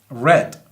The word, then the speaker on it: read: lista vemos que dice read read red se escribe idéntico se pronuncia diferente según el tiempo en el cual yo lo estoy hablando en este caso en